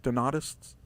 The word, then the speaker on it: Donatists: Is that how I pronounce it? Donatists? Yes. Okay, a group of Christians who emerged in AD 312.